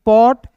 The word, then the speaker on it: pot: नियम एक बार और समझ लीजिए कि किसी वर्ड्स के बीच में ओ दिखेगा तो ओ का उच्चारण औ के रूप में।